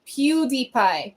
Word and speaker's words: PewDiePie: yeah that's what I'm saying no idea it's pronounced PewDiePie PewDiePie I have no idea who PewDiePie is